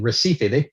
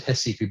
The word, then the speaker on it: Recife: woman of neuropaediatrician in Recife Brazilians pronounced at hessify but for argument's sake I'm gonna go with kind of the the Americanized or English version Recife which is Northeast Brazil